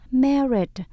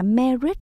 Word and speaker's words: married: The first one, đứa đầu tiên is married, đã kết hôn rồi. The first one is married. Mình không đọc là married, mình đổi lại là me, từ me cao hơn nhé.